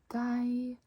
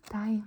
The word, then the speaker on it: deg: We make the J sound in jeg, deg, meg. Me, you, no, sorry, I, me, no. Jeg, deg, meg.